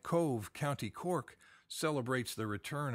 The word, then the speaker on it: Cobh: bad guy sometimes and Owen cove by the way it's spelled cobh and of course in